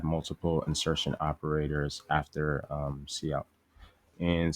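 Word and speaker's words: cout: we will add um so this is actually pronounced C out from what I've uh seen or heard it'd be pronounced I tend to say count but um it's like C out and it's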